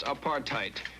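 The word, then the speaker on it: apartheid: In the Dutch or Africans language of South Africa, there is a word pronounced apartheite, which simply means a policy to keep people of different races apart.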